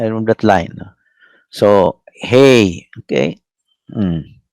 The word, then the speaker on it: He: So hey. Okay. Mm. Uh, hey. It's pronounced as like letter H.